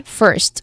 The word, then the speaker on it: first: Again, first, which has one syllable only. Now, first It has a short E vowel sound here, and there's a consonant cluster at the end also. There's three consonants that are blended together to create one sound.